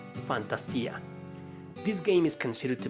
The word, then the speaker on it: Fantasia: goes to ephemeral Fantasia since the second word is in Spanish it might be pronounced Fantasia this game is considered